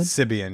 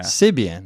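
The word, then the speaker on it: Sybian: Is that how you pronounce it? Sibian, yeah. Sibian.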